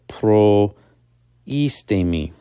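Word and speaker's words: προΐστημι: So in the verb, for example, proistemi, the iota has a diaresis to indicate that it is not a diphthong with the omicron in front of it, but rather is to be pronounced separately. So proistemi.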